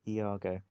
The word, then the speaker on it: Iago: who's got the voice, Iago, or however Yeah. you pronounce it. Holly's literally sat there now going, "It's not pronounced like that," but it is Iago.